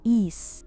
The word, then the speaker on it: Ys: For those unfamiliar with why, it's a fantastic long-running series of action role- playinging games pronounced east.